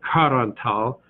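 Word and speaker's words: Qarantal: So the Q is pronounced more or less like our K. So Karantal, and maybe you're wondering, what in the world is Karantal and where is it?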